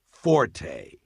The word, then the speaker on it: forte: point is not pronounced forte. Got that? It's pronounced fort. The Italian word forte f o r t e used in music notation is pronounced forte and it instructs the musician to play loud.